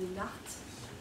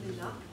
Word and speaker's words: Leenhardt: D'ailleurs, vous m'excuserez parce que des fois je prononce très mal son nom, parfois je dis Lénart, au lieu de dire Lénard, j'ai pris un mauvais pli.